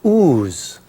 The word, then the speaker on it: Oz: But the funny thing is they don't they don't pronounce it Oz. They pronounce it ooze.